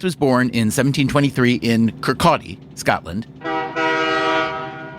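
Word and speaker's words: Kirkcaldy: Adam Smith was born in 1723 in Kcaldi, Scotland. So you have to pronounce it Kcotti. Kurcotti. Sorry. Adam Smith was born in 1723 in Kcotti Scotland.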